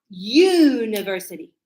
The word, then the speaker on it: university: Because the sound, when I pronounce what I hear, it says a university. You. So here the sound is like a Y.